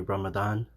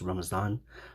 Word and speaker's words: Ramadan: So before I continue, my friends, I want to say Ramadan. It's also could be pronounced Ramazan, Mubarak.